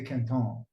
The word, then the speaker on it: Quinton: like some people say is it Kinton how do you say it it's it's the the gentleman that historically it's it's named after because he just he discovered it as Rene Kon oh Kon okay oh yes I